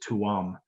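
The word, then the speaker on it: Tuam: tomb or you if you ready you would pronounce it two on because it's t-u-a-m and it's an irish word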